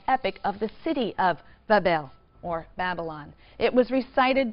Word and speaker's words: Babel: So the grateful gods now uh um recognize the sovereignty of Marduk and they build him a magnificent shrine or temple in Babylon pronounced Babel which simply means gateway of the god the gate of the god.